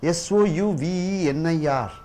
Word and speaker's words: souvenir: How many syllables are there sound in that? You don't say souvenir, souvenir, souvenir. Generally people say souvenir. Souvenir, souvenir, souvenir, souvenir, souvenir, souvenir. So, souvenir, souvenir. Four sounds are there.